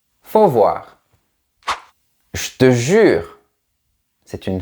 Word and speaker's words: faut voir: Remarque aussi que généralement on ne prononce pas le sujet il. On ne dit pas il faut voir mais juste faut voir.